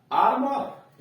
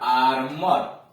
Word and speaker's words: armour: जैसे ARMOUR, आर्मर, यहां देख रहे हैं OU नहीं हो रहा है, ऊ या बड़ी ऊ नहीं हो रहा है, आउ भी नहीं होते, एक तरह अ हो रहा है, आर्मर।